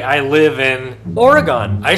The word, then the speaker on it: Oregon: Oregon or anything else ending in the sound gon is not an acceptable pronunciation.